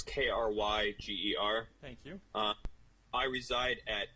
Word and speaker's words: Krieger: Yeah, it's Krieger, and that's Kryger.